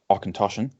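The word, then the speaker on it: Auchentoshan: light smooth spirit character it's pronounced or contortion and means corner of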